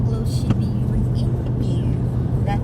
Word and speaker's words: Shiba Inu: They look like little Shiba Inu. Is that how you pronounce it? Yeah, Shiba Inu, yes.